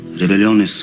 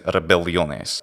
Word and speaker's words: rebelliones: Rebelliones upprimebam in ac statione remota 11 annus. He doesn't geminate his L, so he says rebelliones instead of rebelliones, rebelliones. Rebelliones upprimebam in ac statione remota 11 annus.